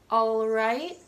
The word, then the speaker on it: all right: The last 4 have an L that comes after an A, and again, in order to sound more formal, I recommend pronouncing it subtly. Always, all right, already, although.